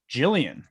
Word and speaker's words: Jillian: Jillian, Yes. Spelled like Jill, but with the Ian at the end.